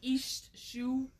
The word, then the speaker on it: Iesthsu: It's, if you know who Stacey Easthue is. By Easthue, she means HST. You've probably seen it written and don't know how to say it. IESTHSU. Yeah. She pronounced it East. It's like East Shoe.